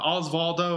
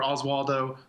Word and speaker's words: Osvaldo: yeah we're talking about depending on how you like to pronounce it either uh osvaldo or oswaldo golijov and he's a